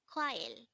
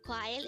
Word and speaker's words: 과일: word number 282 this is pronounced as a two-syllable word the first syllable is qua second syllable is ill pronounce it with me the word quail is simply the korean